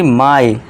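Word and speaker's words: my: जैसे कि देखिए कैसे होगा ये, जैसे कि माई, आप देखिए लॉन्ग ई का उच्चारण देखिए हो गया ना ई, तो ये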